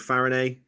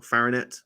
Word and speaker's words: Farinet: on a horse called Farina who or farinet that's how that's pronounced run at Chatham early